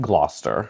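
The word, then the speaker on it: Gloucester: How do you pronounce it? Glouster.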